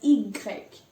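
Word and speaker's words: i grec: x is x 4 0 fern y is pronounced as igreg now again you see there's a sound you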